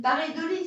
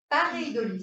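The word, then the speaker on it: paréidolie: Mais c'est une pareidolie, c'est une illusion d'optique. Il y a aussi des illusions sonores. Une parure de lit? Pareidolie, ça s'écrit.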